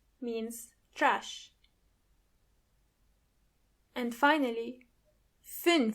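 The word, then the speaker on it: fünf: even closer to each other e try to pronounce those words with me tu tu means door m m means trash and finally fin f means five U so all together we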